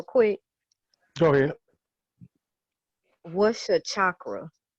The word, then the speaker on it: chakra: What's your chakra?